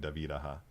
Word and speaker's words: David Aja: And by the way, if you guys didn't know, that is how you pronounce his name, David Aja.